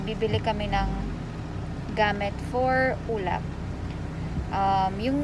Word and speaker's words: Ulap: Pero pag kasi sa Kabampangan, mas ma- hard yung pagkakabigkas. Ulap.